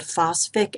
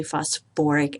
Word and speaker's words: phosphoric: eight goes to I this acid should be called phosph acid however like sulfuric acid we add an extra syllable in there so this is actually phosphoric acid so I just wanted